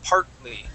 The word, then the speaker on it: partly: so we're gonna say partly so uh we're not going to pronounce that t and say part partly we're going to say part partly so we're going to skip right over that t Okay partly try that